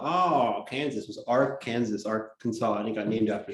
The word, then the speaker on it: Arkansas: come to pass the kansas is pronounced kansas and arkansas isn't pronouncing our kansas what is going on